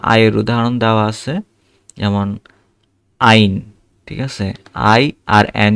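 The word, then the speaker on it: ein: যেমন আইন, ঠিক আছে?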